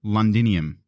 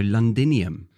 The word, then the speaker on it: Londinium: London ah yes so London was originally called londinium which is a Latin word now London came about because the local Britain when they were trying to pronounce London in their accent started to say lundan wow lundan lundan and then